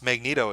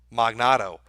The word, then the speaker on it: Magneto: Because he tried to pronounce Magneto as a name. Magnato.